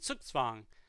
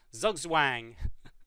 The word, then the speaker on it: Zugzwang: means bound and it's that Z is pronounced like a TS in English so it's swung so black is in suits Fung and you know people